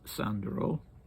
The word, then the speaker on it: Sandro: me that that uh Georgian names always put the stress mildly on the last syllable and that you would say he was called Datiko and that you would say Sandro in this instance but I don't know